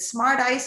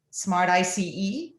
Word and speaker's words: Smart ICE: Is it Smart Ice or is it Smart ICE? Smart Ice. Yeah, Smart Ice.